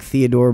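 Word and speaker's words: Fyodor: for old Theodore Theodore I'm just gonna say it like Theodore but with an F Theodore all right you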